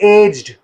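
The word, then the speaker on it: aged: तो आप अगर आप देखते हो ए जी ई डी, मोस्टली हम इसको एज्ड पढ़ते हैं, एज्ड. ठीक है, इनमें से कुछ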